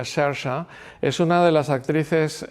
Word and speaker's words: Saoirse: Eh, Sersa Ronan, eh, que en realidad se escribe Saoirse Ronan, se pronuncia Shersha, es una de las actrices actuales también más interesantes.